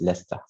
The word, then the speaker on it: Leicester: places there cathedral leicester it's a kind of a strange pronunciation but it's leicester thank you any questions